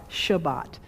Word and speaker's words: Shabbat: to pronounce this but the hebrew verb sabbat s-a-b-a-t shabbat s-a-b-a-t shabbat sabbath comes